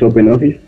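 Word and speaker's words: OpenOffice: me he dicho que no se pronuncia Ben offis pero a Ben offis es Open Office Open Office esen Office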